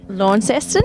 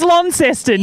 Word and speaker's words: Launceston: How do you say that? Launceston? No, it's Launceston, not Launceston.